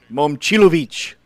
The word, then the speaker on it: Momcilovic: I did want to make fun of you last night when you kept saying, Momcilovic. you said his name. Momcilovic. That's how you say it.